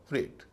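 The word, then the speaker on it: freight: ले जाया जाए, उसे फ्रेट कहते हैं। फ्रेट, इसका उच्चारण है फ्रेट, FREIGST, फ्रेट।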